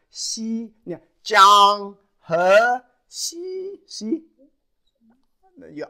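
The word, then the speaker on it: 溪: And this is a little brook, pronounced Xi.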